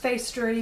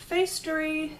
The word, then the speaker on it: Facetory: I think it's pronounced Facestory because to me that's like factory but with an E in it.